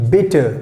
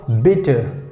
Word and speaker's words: bitte: so in german language we say bitter b i double t e and how we pronounce bitter bitter so you know you